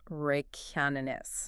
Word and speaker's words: Reykjanes: the most fiercely primordial landscapes on Earth, Iceland's Reykjanes Peninsula. And that's pronounced Reykjanes.